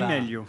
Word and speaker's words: Di Meglio: On doit pas prononcer le G d'ailleurs à mon avis. Absolument, non, on dit Di Meglio.